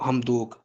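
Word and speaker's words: Hamdok: अब्दुल्ला हमदोग जी Abdullah हमदोग spelling लिख लें।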